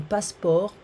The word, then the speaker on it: passeport: Now, vocabulary, une ambassade, un consulat, embassy, consulate, une administration, un bureau, an office, un passeport, we don't pronounce the T, un passeport, un visa.